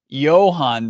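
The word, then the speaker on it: Jahan: Commander's receiver Johan doson Johan doson pronounces it with a soft J and the a turns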